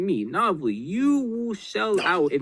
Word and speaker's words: Novely: will shell out if Nina says she's gonna Novely.